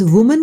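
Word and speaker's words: women: शब्द वुमन का प्लूरल बनाने के लिए ए को ई से बदलते हैं और इसका उच्चारण विमेन होता है।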